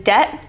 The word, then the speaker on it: debt: along on the PDF so the final BT as in debt and doubt you don't say the b it's silent it's just debt and doubt it's not debit or dbit it's debt